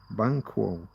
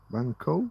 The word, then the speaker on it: Banquo: They spark the tragic plot by giving dark prophecies to McBth and Banquo, Bango, Banquo, however you want to pronounce it.